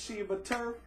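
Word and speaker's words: Sheba Turk: Sally Ann Roberts, Sheba Turf. That's how to pronounce her name.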